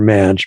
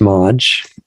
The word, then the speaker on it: Maj: I was saying it wrong before, Maj, but it's Maj.